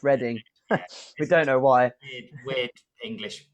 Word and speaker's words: Reading: london uh in berkshire most people think it's reading but yeah it's something ready for now yeah some reason it's pronounced reading we don't know why